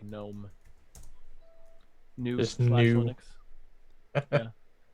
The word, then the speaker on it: GNU: I've decided I'm no longer gonna pronounce it hard G. It's not gonna all be pronounced like gnome. New Just slash new.